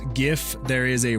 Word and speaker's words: GIF: The reason why I say GIF is because it stands for the uh graphic interchange format. Yeah. And so unless you pronounce it graphics, then it then it's GIF.